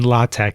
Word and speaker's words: LaTeX: We are going to write and format this engineering report in Latte.